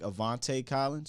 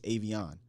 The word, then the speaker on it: Aviante: And by the way, I also do understand it looks like Avante Collins or Aviante Collins, but it's Avion. That's how it's pronounced.